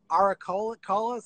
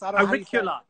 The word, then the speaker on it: auricula: And I always destroy the pronunciation of it, but it's that primula-like flower. Auriculus? Auricula.